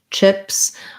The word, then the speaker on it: chips: So try maybe other vowels like take, tips, and maybe choose, chips.